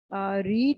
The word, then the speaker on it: read: Remember, the pronunciation of read in the past is going to be read.